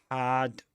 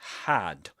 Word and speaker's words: had: Had is pronounced with in its strong form, so we say had. Had to be, not had with a schwa.